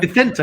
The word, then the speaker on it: Vicente: Vicente is correct, yeah.